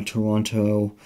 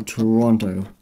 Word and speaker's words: Toronto: In Ontario, I went to Toronto, which I think the Canadians don't pronounce it with the other T.